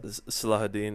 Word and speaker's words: Saladin: It's just that moment when Saladin, did I pronounce that right? Saladin. Salahuddin, or Yeah, when he looks over his glory